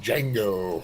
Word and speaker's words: Django: I think he was supposed to be Django. Yeah, exactly. Well, that's like, cross promotional, you kind of have to do stuff like that. The D is silent. Yeah. The Django, yeah.